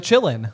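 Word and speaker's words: Qilin: Or the Chillin. Or the Chillin. Yeah, which is spelled K Q-I-L-I-N.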